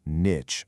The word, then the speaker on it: niche: Now, you will hear people say niche all the time. And honestly, it's so common now it's basically accepted. But the word is originally French. And in French, it's pronounced niche. So niche is fine, but if